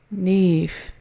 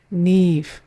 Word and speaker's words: Niamh: The name is Niamh. Niamh. Niamh. Rhymes with leaf. So just add the N with it. Niamh.